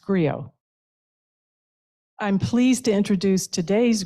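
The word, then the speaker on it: griot: it's Grio which is spelled g-r-i-o-t but pronounced Grio I'm pleased to introduce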